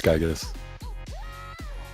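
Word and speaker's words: Giygas: Drug, is it Gygus? Is that how you pronounce that name? I can't remember. Yeah, it's Gygus.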